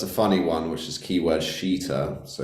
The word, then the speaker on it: Keyword Sheeter: is Keyword Sheeter, so it's spelled SHEET, like a sheet. Yeah. Obviously, it actually used to be called Keyword, swear word, but they changed it to Keyword Sheeter, like a sheet on a bed.